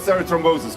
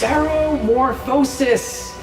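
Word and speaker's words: ceremorphosis: I need you to tell me everything you know about serothrombosis. Come on. It's seromorphosis.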